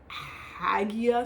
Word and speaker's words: Hagia: The Hagia Sophia, I think you pronounce the G in that, in Turkey is one of the biggest churches ever, and now it's turned into a mosque.